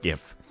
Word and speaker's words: GIF: leaned the opposite direction gif is the exception and it's to be pronounced gif despite the fact that the creator says jif but why jif is